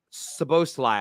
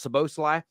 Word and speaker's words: Szoboszlai: name right Dominic uh so both lie I think it's pronounced so Bosley the RB livestock midfielder